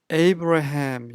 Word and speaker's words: Abraham: Abraham 영어식 발음이죠.